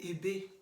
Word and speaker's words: Ebe: The first letter E, we pronounce it in Edo language as A. The second letter E, we pronounce it as E, as in Edo. Edugi. Okay? So now, in the fourth vowel, in English vowel, it is pronounced as I. But in Edo language, we pronounce that letter I as in ice cream in English, but that letter I in Edo, we pronounce it as E, as in Ikbomusa.